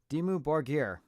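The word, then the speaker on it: Dimmu Borgir: Oh, that's how you pronounce it. Dimu Borger.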